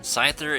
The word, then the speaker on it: Scyther: we're looking at scythe or insight they're good pronunciation Scyther and Scizor if you are one of those